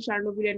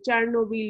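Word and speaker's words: Chernobyl: রাশিয়ার ক্ষেত্রে সার্নোবিল, রাশিয়ার সার্নোবিলের নাম নিশ্চয়ই শুনেছো, চার্নোবিল বা সার্নোবিল যাই উচ্চারণ করো না কেন, তো সার্নোবিলের নাম নিশ্চয়ই শুনেছো।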